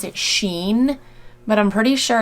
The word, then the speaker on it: Shein: I've heard some people pronounce it Sheen, but I'm pretty sure it's pronounced Shein.